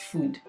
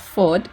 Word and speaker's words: FUD: and it's pronounced as food. Quick correction, guys, it's pronounced as FOD, but for some reason I kept calling it food.